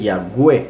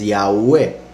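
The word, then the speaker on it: Yahweh: w como una g entonces dicen ya ue lo cual está mal es yagüe por eso se llama doble y entonces yagüe es la correcta pronunciación y por eso algunos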